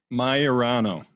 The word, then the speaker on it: Maiorano: Maiorano.